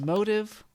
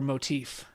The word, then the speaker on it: motive: So my rapid fire is it pronounced motive or motif? Motive. All right, there you go, Ben. Because you were saying motif.